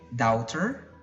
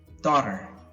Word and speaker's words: daughter: is pretty simple but I've heard people say doubter or dr. wrong the correct pronunciation is daughter dot or daughter now looking at this picture